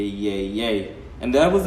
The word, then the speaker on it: Yeye: I was like yeah but then again it's pronounced yay as in why a why yay why a